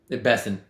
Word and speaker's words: Bessent: The markets are up a little bit today based on is it Besset or Bent? Bessent. Bessent. Um so I said it wrong both times.